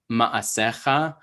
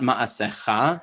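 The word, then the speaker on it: מַעֲשֶׂיךָ: For example, when, and also like, you know, ma'asecha, right? It's not ma'asecha, it's ma'asecha, right?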